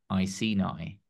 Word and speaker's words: Iceni: And then if I let Google pronounce it, Iceni. It says it's Iceni.